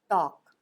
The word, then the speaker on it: talk: verb टॉक जिसका अर्थ होता है बात करना टी ए एल के टॉक जहां एल साइलेंट होता है इसका उच्चारण नहीं किया जाता टॉक टॉक जिसका